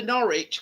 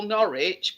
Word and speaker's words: Norwich: spelled m and it's like the the the Norwich we call norch but you call it Norwich which is actually the way it's spelled well we're we're too